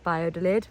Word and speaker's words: Valladolid: it's spelled via lid with a v but pronounced bio de lid for those of you who didn't know that